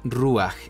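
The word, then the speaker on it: רוח: faltante es la u se pronuncia ruaj y significa espíritu Cuál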